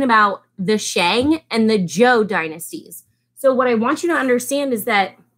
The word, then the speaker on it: Zhou: word right here, Z-H-O-U, it is actually pronounced Zhou, like Zhou, the song, you know?